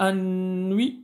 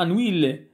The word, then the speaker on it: Anouilh: ما تنسوش انوي من احسن نطقوها عارف كتبوها انوي باش ما تنساش هذيك ال انوي جونر تراجيدي مودرن alors siècle c'est le 20e siècle.